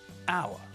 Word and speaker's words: hour: way we say them our university our university when we say our we don't pronounce the H at the start of the word so the word sounds